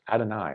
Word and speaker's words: Adonai: In Hebrew, Yud He Vav He, pronounced Adonai out of reverence.